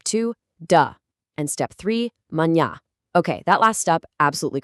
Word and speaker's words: manhã: And step three, manhã. Okay, that last step, absolutely crucial. Manhã actually translates to morning, and it's got this distinct, beautifully nasal sound right at the tail end, manhã.